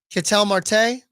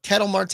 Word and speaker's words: Ketel Marte: The next best one, Ketel Marte or Ketel Marte, however you want to pronounce it. I've always pronounced it Ketel Marte of the Diamondbacks.